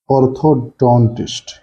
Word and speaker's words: orthodontist: on this part psychoanalysis next is orthodontist the stress is on don part the next word is